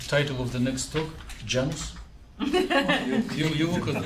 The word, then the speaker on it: Janus: if you want an English pronunciation, it's Janus. Ah, okay. But if it's Latin, then it's Janus. Janus. Janus is more Janus.